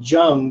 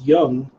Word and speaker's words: Jung: Carl C.G., I called him Jung, but it's Young. Everyone corrected me on how to pronounce it. It's Jung.